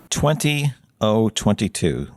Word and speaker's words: 20022: 20022. So 20, and then the other zero is pronounced as O, and then 22, and that's because it's a 5-digit number.